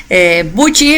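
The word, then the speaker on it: Büchi: Como ya me escucharon, nosotros lo pronunciamos como Viuji porque esa es la pronunciación suizo-alemana. Pero la verdad es que en Latinoamérica nos dicen de diferentes formas. Buchi es creo que el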